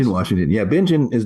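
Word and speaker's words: Bingen: in bingin Washington is that what how it's pronounced Ben Washington yeah bingin is not a huge town I think there's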